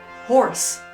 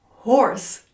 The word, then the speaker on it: hoarse: Horse. Horse. Yes, it's pronounced just like the animal horse.